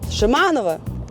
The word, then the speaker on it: Шеманова: Shimanova. The stress is on the second syllable.